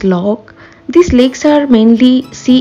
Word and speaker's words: loch: the tourist than you in Scottish GIC language the lakes are pronounced as log these Lakes are mainly